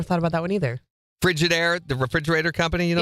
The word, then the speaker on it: Frigidaire: Frigidaire, the refrigerator company, you know, Yeah. it's spelled frigid, A-I-R-E, is frigid air.